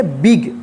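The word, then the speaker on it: big: जी इसको क्या पढ़ेंगे बिग देखिए यहां पे इसका रूल है कि जब किसी वर्ड में दो कंसोनेंट के बीच में आई रहता है तो आई का ई उच्चारण होता है ठीक है जैसे य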